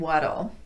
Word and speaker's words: what'll: two things going on there's a slight vowel before the L and the t is tapped so it's going to sound more like a light quick D sound let's look at those